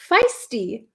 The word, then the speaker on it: feisty: Um can you pronounce feisty? Feisty. Feisty. It's like a long I feisty.